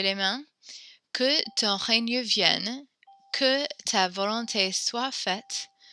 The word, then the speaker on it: vienne: You said vient, which is kind of like how it's the form of venir that we memorized, V-I-E-N with one N, and then S or T. But with the two N's, it makes a different kind of vienne sound.